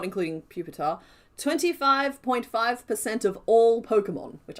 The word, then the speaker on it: Pupitar: Puppy, who's you actually pronounce it pupitar, I believe.